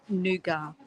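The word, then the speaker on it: nougat: they used OD cologne in the states we pronounced the T in nuga that's interesting Tish I'll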